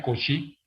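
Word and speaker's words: Cauchy: es agustín con si se escribe couch y por cierto se pronuncia con si lo escribo aquí en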